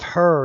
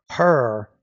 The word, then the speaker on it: her: No, it's a member of her. You want to make sure you're pronouncing the H there.